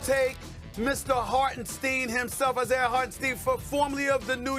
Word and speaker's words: Hartenstein: You might not even pronounce his name right. Hartenstein. Hartenstein.